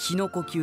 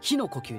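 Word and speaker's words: 日の呼吸: なかなかねえボブあの最初しの呼吸って言ってたんですよおひさまのね氏の呼吸でねでもイントネーションは火の呼吸でいきますっていうふうに言われてまぁ一応だから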